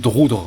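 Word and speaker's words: Drudkh: Et en fait, Drutk, qui se prononce Droudre, en fait, paraît-il, malheureusement, c'est l'arbre qui cache la forêt de son boulot.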